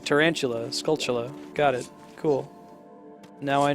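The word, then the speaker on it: Skulltula: man take that giant spider scula I always pronounced it Scala as a kid and I heard some random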